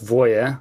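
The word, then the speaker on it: Voja: briefly what is it and how do you pronounce it uh I would go with Voya since it's named after vo Anish um Bo Voya 4 yeah and that was that's kind of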